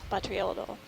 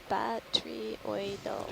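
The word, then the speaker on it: botryoidal: batrioidal Yep. Got lots of texture. Great. Appreciate the pronunciation. Yes, Yeah. batrioidal.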